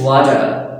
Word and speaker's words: water: So here we pronounce this as a ta sound, water. But whenever American they are pronouncing this water is a word, so they pronounce this T as a da sound. They say water, water.